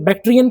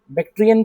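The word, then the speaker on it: Bactrian: सा है फौना लिखेंगे बैक्टीरियन camel बैक्टीरियन camel spelling क्या लिखोगे बी ए सी टी आर आई एन बैक्टीरिया नहीं बैक्टियन कैमल ठीक है लिखेंगे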